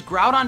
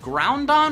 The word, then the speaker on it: Groudon: of the most popular box are legendary Pokemon pronounced wrong such as grout on being called ground on or Groudon and hoo being called ho ho